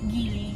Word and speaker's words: Geely: Sumulong Sa gily Sumulong ano ano pronunciation gily based sa search ko po is gily gily Anong gily made